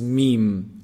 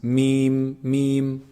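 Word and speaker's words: ميم: when you combine both lips together when they close up this is meme and there's some nasal sound also coming from the nose meme noon noon is actually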